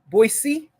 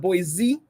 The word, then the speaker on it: Boise: Boise, not Boise. It's very important. It's spelled with an S, not a Z.